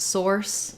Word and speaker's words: source: source and sauce so for source we have the ore diphthong so if you think about it's similar to the word sore um but then you're adding the sound for letter C E Source um so you might think of it as kind of sore because if we spell with two s's that may help you with that s sound so to focus on